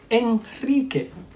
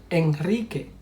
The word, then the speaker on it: Enrique: Enrique, Enrique. Israel, Israel. Alrededor, alrededor. So you see, after these three consonants, L, N, S, we pronounce it strong R.